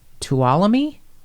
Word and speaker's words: Tuolumne: help me with this, Tuolumne? Yeah, you got it. No one pronounces the end. Tuolumne County.